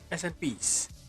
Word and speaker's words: SNP: SNPs, pronounced SNP.